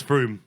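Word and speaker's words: Frome: Well, you're right. It's Froom.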